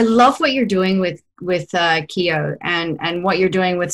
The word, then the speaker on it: Kiyo: up, and I love what you're doing with Kiyo and what you're doing with supporting people in their regular practices of always questioning themselves. Is that how you pronounce it? Huh? It is. You nailed it. Yeah, Kiyo.